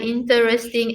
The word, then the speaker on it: interesting: Some of the interesting animals in the park are bears and caribou. But interesting, it is how many syllable is there? Interesting, 4 syllables.